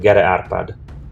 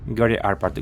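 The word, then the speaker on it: Gere Árpád: G arpad is so this is how it's pronounced in Hungarian g arpad g arpad what's the correct pronunciation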